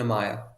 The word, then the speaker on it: Amaya: Emerson Amaya, is that how you pronounce his name? Yes, Emerson Amaya.